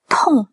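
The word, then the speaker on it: 痛: Tong, tong, tong. Alors, prononciation. Prononciation, on a un T, expiré, très très important, expirez-le, sinon ça va être confondu avec un D.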